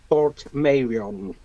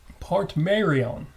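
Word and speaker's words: Portmeirion: I have, and I actually grew up in a village literally about 2 miles up the road from Port Merion. Port Merion.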